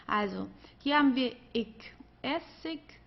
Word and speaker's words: Essig: Also hier haben wir ich, Essig, König. Okay? Also hier am Ende, das wird eher wie ein K ausgesprochen oder manchmal wie ein H, also wie du möchtest.